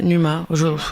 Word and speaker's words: Numa: Est-ce qu'on prononce Numa? Ouais, Numa, les deux.